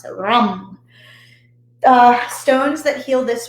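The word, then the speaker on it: Ram: but it's pronounced so you have to roll the r and then u-m-n-g that's how it's pronounced so rum the stones that heal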